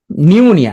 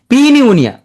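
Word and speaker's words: pneumonia: নিউমোনিয়া, তাহলে পি উচ্চারণ হচ্ছে না, নিউমোনিয়া, প্রথম পি আছে। তাহলে তুমি পড়ার সময় কি বলবা, টি সুনামি, টি সুনামি, ভুল হবে না। পি নিউমোনিয়া, পি নিউমোনিয়া, তোমাদের সাইড দেওয়া হবে এগুলো।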